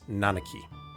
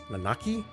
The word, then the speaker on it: Nanaki: the that I know I believe it's nanaki that's how I would pronounce it using the hugana but I don't have if that's correct or not maybe it's nanaki nanaki I reckon it's